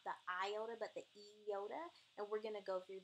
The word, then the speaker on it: iota: pronounced correctly it's really those letters that are pronounced with the Yoda not the iona but the eyota and we're gonna go through that shortly but